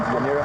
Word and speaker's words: Yanira: Yanira. Yanira, okay.